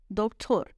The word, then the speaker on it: دکتر: ہیں۔ او دکتر ہست، دکتر تلفظ ہے اس کا اپنا، ڈاکٹر۔ وہ ڈاکٹر ہے.